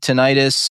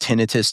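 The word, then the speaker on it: tinnitus: So, so for the the listeners, tenitis, you might have heard it pronounced tinitus, too. You know, people get to pronounce it however they want really, but it is ringing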